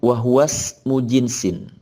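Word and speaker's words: وَهُوَ اسْمُ جِنْسٍ: Wahuwa, dan dia, maksudnya ilahun, ismu jinsin, Kalau kita sambung cara bacanya wahwas mujinsin. Nah, kenapa dibaca begitu? Karena hamzahnya adalah hamzah wasol, bukan hamzah qata.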